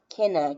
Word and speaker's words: Kin: Kinna, Kinna, or for a little boy, Kin for kin. Sounds like Ken, but spell it Kin, and kin means relative.